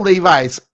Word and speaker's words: Levis: you right now will Levi's is the guy oh Levis is what they call them I say Levi's because I spell that way um um that guy